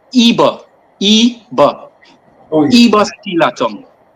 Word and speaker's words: Eber: Let me first start, Devon, by saying your pronunciation is a bit short. My name is EBER.